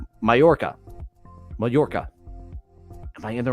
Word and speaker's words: Mallorca: than I do and it is a y sound like I saw that and I knew it I I just looking at it I'm like there that's that's probably not the English pronunciation Mallorca Majorca am I in